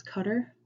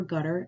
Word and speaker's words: Qatar: business economy of qatar qatar is often pronounced as cutter or gutter in old english terms to kutar among tv newscasters qatar